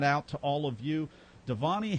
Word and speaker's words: Dhvani: So the V is pronounced like a W, so Dhvani. Dhvani.